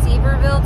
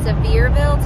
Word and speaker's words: Sevierville: well it's like uh I thought it was seaverville Tennessee but apparently they pronounce it Sevierville Tennessee so um the highlight